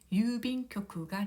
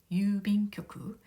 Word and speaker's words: 郵便局: 발음은 유빈교쿠가 되겠습니다. 유빈교쿠. 이 유를 보면은 우 모음이 연달아 와서 우 장음으로 발음을 하면 됩니다. 유빈교쿠, 유빈교쿠, 유빈교쿠.